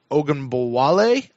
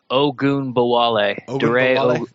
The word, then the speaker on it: Ogunbowale: We've got a running back, Dre Ogunbowale. We have a tackle. I have that. You do? Oh, you said it right. Did I? Ogunbowale.